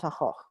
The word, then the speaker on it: Van Gogh: the great genius, Vincent van Gogh. Vincent van Gogh, I don't know how you pronounce it in Spanish, in Dutch it's Van Gogh, it's got a things.